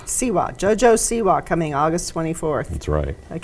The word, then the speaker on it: Siwa: Siwa. Siwa.